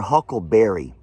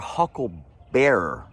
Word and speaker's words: Hucklebearer: And believe it or not, you know that we're all saying it wrong. It's actually not your Huckleberry. I'll be your Hucklebearer.